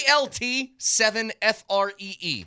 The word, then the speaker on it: ALT7FREE: Why don't you say alt? Altitude. Alt. You have to go alt, alt. Because Alt phonetically, it's an easier way to do it. Say- ALT7FREE.